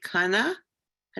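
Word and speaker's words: קנאה: Is it Kana? How do you pronounce it? Kana? Kan'ah. Kana. Kan'ah. Say it again. Say it again. Kan'ah. Emphasis on the second syllable.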